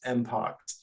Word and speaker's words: MPX: we've shifted to MPX which is some sometimes pronounced impact but as everyone gets